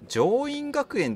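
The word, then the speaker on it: 縄印学園: 上院学園って読むんだね。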